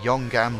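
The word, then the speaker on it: Yeongam: The teams have travelled to Korea at the Yonggam circuit. I finally can pronounce it properly.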